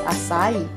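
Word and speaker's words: açaí: Sorry, you should pronounce it as acai.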